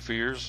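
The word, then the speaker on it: Fiers: It says, Mike Fears, F-I-E-R-S, I think it's how you pronounce it, Mike Fears. That's how I've been hearing it anyway, and that's what we're going to go with.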